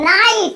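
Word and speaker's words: night: पर एग्जांपल है नाइट हम स्पेलिंग में जीएस बीच में है तो ऐसा नहीं बोलेंगे नहीं बोलेंगे नाइट एन की आवाज़ आई आई की आवाज़ आई टी की आवाज़ आई जीएस का गला घोट लिया इसी तरीके से फाइट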